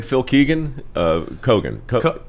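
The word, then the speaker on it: Keoghan: name Phil Keegan uh kogan how I I I never get his last name right it's Keegan I think he he pronounces it Keegan looks like it's kogan host The Amazing Race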